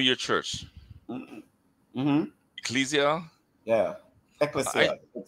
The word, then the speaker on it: Ecclesia: Ecclesia. It's taking the Greek pronunciation.